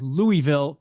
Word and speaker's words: Louisville: There are thousands of century-plus old buildings in, I'm going to say Louisville, because it is Louisville. Louisville. Not like that. Louisville. One syllable.